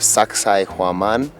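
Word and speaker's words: Sacsayhuamán: at the fortress of Sacsayhuaman. If you can't remember how to pronounce it, just think, sexy woman.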